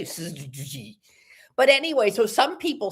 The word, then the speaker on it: syzygy: And the name is spelled, I'm going to spell it first, okay? Yes. SYZYGY.